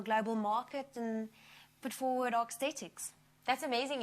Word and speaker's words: Sthetics: Mentioning the global market, you guys are Sthetics.